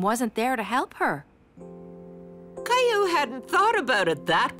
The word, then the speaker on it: Caillou: My name is Caillou. Oh, Caillou. I'm sorry. I'll remember that from now on, because Caillou rhymes with sky blue, like your beautiful painting yesterday.